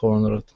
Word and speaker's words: honored: So the H is not pronounced in this word.